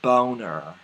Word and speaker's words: Boehner: lindsy Graham John Boehner or as I used to call him back before I knew how to pronounce his name correctly John boner it's time to get